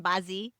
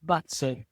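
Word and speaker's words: 八字: Is that the correct per correct pronunciation bazi? No it's very wrong but it's the way I do it. We should probably say bats. But my I make no claim to pronounce Chinese well.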